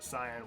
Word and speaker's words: Cyan: That's the Cyan way. I've heard some people pronounce it as Cyan, and I'm like, no, Cyan is literally a word. Yeah, it's like the color.